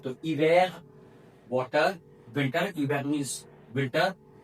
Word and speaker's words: hiver: Because H is always mute in French. So hiver, water.